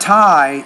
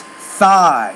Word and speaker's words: thigh: tie no it's not tie it's thigh so you have to put the th put the tongue between your teeth thigh thigh breath breath